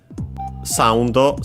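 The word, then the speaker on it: サウンド: Soundo 7. First and foremost, we have of course soundo, which comes from English sound. Should be accented on the first syllable.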